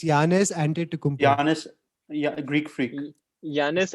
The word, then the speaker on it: Antetokounmpo: It's Giannis Antetokounmpo. Giannis, yeah, Greek freak. Giannis Antetokounmpo.